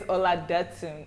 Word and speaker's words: Oladotun: And so then I quote tweeted it and I did the phonetics, like it's Ola, like, you know, Datun, like the brat, Datun.